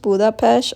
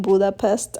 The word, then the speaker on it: Budapest: It's actually pronounced Budapest, although most of us have been saying Budapest our entire lives. Budapesh is actually two cities, Buddha and Pesh, separated